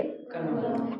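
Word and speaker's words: क़लम: जैसे कलम खराब गरीब बाजार फौरन थोड़ा सा उच्चारण करके बताएंगे इसको कैसे उच्चारण करेंगे? कलम कलम ऐसे पढ़ेंगे कलम। ऐसे पढ़ेंगे कलम। ठीक है? उच्चारण में अंतर आ रहा है ना?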